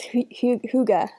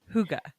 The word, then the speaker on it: hygge: It's Hygge. Hygge.